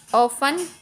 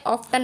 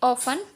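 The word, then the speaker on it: often: इसको हम किस तरह से पढ़ेंगे, लिसन, ऑफन, टी साइलेंट है, ऑफ्टन नहीं पढ़ेंगे, ऑफन, Gilson, match, catch, batch.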